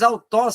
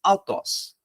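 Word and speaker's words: αὐτός: a vogal, a raiz, mas autós sempre vai ter uma aspiração branda, por isso, autós.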